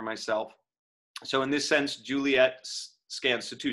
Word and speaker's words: Juliet: juliet lives right hiccup juliet elides to two syllables as it often does